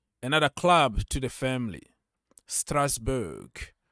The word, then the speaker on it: Strasbourg: club to the family Strasbourg or strasbour that's how we pronounce it so welcome to